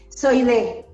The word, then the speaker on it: Soidée: Soidée. Soidée. Okay. It's in Spanish.